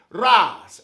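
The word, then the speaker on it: רז: Now, the word secret means raz, R-A-Z. That's how you pronounce it in Hebrew.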